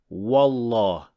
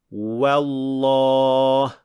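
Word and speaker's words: والله: The third mistake is pronouncing waw as a heavy letter, especially when it is followed by a heavy letter. Like in this example. Wallah. So we don't say wa. Wallah.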